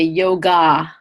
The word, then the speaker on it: yoga: big hot the jaw so that terminal a is pronounced uh not ah so that's why in India you'll never hear anyone say yoga or Ayurveda because that last aa is just a schwa sound ER is just an